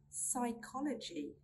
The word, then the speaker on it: psychology: We do not pronounce the P sound when it comes in a combination of PS, PT, and PN. Let's look at some examples. Pneumonia, pneumonia. Psychology, psychology.